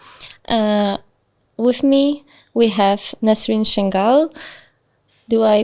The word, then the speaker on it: Nesrine Changuel: host again today uh with me we have nasin shenal do I pronounce it correctly yeah okay this was this